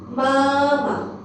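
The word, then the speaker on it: 妈妈: Or neutral tone we will read it as a light and fast. For example, the first one, mama. Okay, we read as a, we don't read any tone now.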